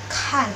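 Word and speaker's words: 看: Lalu untuk K itu sendiri dibacanya K, cuma dia itu harus ada aspirasinya, harus ada udara yang keluar dari dalam mulut. Contoh di sini kan, artinya lihat.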